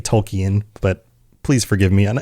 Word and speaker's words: Tolkien: And that makes a lot of sense because there are a lot of themes in Tolken's works, right? And I say Tolken, it should be Tolkien, but please forgive me on any of my pronunciations.